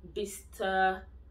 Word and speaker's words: Bicester: In UK, the general rule for cities like Leicester, when this C-E-S-T-E-R is pronounced as star. Leicester, Worcester, Bicester, Chester, and we have Gloucester too.